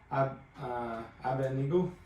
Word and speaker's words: Abednego: But just reading that, obviously the D comes before the end. The end. So I've been saying it wrong my whole life.